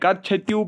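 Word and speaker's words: Katchatheevu: कट छत्यू, ठीक है, कच्छतियु island, ठीक है, कच्छतियु पढ़िएगा और कुछ पढ़ो जैसे आप प्रोनाउंस करोगे।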